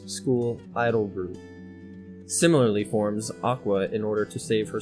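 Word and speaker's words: Aqours: nine-member school idol group ah cores 40 pronounced aqua at o'donnell post she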